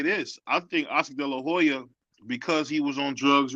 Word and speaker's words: De La Hoya: still suffering because let's be honest here Oscar Del La Hoya is a star maker he he's a star you know what you know what you said it right Oscar De La Hoya did it the Golden Boy was running good